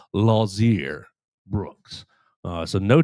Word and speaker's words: Lotzeir: The T is silent on the uh pronunciation guide.